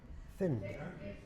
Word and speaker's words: find: So to find, for example, in Yorkshire we say find. I can't find it. It's a short I sound.